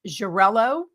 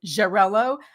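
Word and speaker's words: Xarel·lo: You referenced Jarello, which is spelled X A R E L O. So, Jarello, Makabo, and Peralada.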